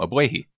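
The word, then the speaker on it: Ogbuehi: know it's done that's how that's how you pronounce his name AB way he alright well it's gonna be Cedric for me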